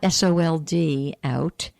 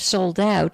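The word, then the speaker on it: Souled Out: so creative i'll say it and then i'll spell it for you the website is sold dot org but it's not sold out it's s o u l e d sold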